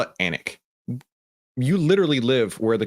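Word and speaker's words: Alnwick: don't understand how the British people the word is spelled alwick a l n wi CK and they call it anic you literally live where the queen's English is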